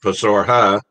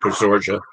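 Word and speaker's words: Posorja: And it's most people call it Pasorha because this J is usually pronounced as an H in Spanish, but the locals are, for whatever reason, call it Pasorja.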